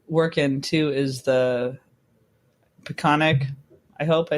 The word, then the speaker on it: Peconic: So another area that you work in too is the Peconic, I hope I said it right, Peconic Hockey Foundation.